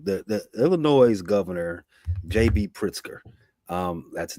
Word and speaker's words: Pritzker: Pritzker.